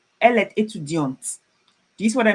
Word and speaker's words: étudiante: feminine, she's a female, I have an E after the T, and I would pronounce it. So I will say elle est étudiante, not étudiante.